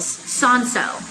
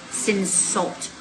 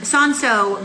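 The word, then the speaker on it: Cinsault: of their own varietals sanso or it's spelled c-i-n-s-a-u-l-t looks like sin salt um son-so grew really well and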